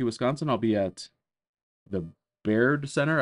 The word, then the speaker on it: Baird: I'll be at the Baird Center. I've heard it pronounced Bard Center, but it's Baird.